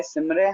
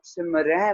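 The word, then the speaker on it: ਸਿਮਰਹਿ: क्योंकि देखिए अगर हम सिमरे बोलेंगे, सिमरे, ठीक है, तो ऐसा लगेगा हम किसी एक के लिए बोल रहे हैं, किसी एक के लिए ये शब्द वर्ता रहे हैं, ठीक है। पर जब हम सिमरह बोलते हैं या बिंदी लगा के उच्चारण करते हैं तो डिक्लेयर हो जाता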